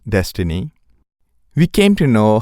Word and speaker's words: DSSTNE: On a side note, when Amazon open sourced their proprietary library for building deep learning neural network algorithm named DSSTNE, pronounced as Destiny, we came to know how its recommendation engine could achieve such good accuracy.